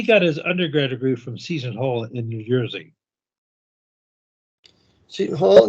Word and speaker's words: Seton Hall: I think it's Sutton Hall, I'm not sure. But it's a Catholic school, as you said, Catholic University. Well, yes, it's pronounced, it's spelled Ceton, Seton Hall.